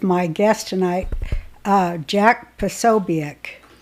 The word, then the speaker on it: Posobiec: tonight uh Jack pesobic did I say it right no so big is that right well they're both rights they're both right is the way we say it in the like like in American English but in Polish it's and